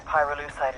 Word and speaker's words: pyrolusite: You know what pyrolusite is, right? Yeah, neither did I. Pyrolusite, key syllable pyro, by the way, is